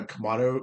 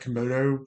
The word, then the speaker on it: Komodo: I think this is supposed to look like his He did bring a Komado, how do you say that? Komodo Komodo.